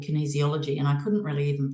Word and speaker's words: Kinesiology: and I saw this thing on Google called Kinesiology and I couldn't really even pronounce it but it's kin easyology now when I discovered that I rang and